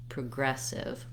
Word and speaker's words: progressive: So I can say aggressive, progressive. You can hear how I barely said the PRO syllable. Progressive. It was very short and the gress was very long.